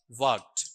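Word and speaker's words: worked: वर्क्ड। ठीक है? ये ड नहीं बोलेगा। ट बोलेगा। वर्क्ड होगा या वर्क्ड? वर्क्ड ट जब उच्चारण करोगे तो डी का साउंड टी में आ जाएगा।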